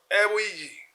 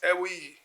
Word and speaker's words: Ebhoiyi: But Ebhoiyi is not correct. It's Anglophone. Okay. Yes. When the colonial masters came, they couldn't pronounce Ebhoiyi. They not decided to call it Ebhoiyi. Okay. So Ebhoiyi is wrong. Okay. Ebhoiyi is the correct.